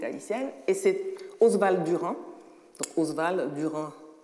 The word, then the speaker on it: Oswald Durand: et c'est oswald durand oswald durand comme ça se prononce l'auteur de rires et